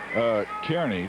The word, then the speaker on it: Kearny: It's spelled N-Y, not N-E-Y, but it is pronounced, I would pronounce it Kearney, too. I believe it is Nebraska. Kearny is what I would pronounce it, but he says it's Kearny back there, named after some guy whose name was Kearny.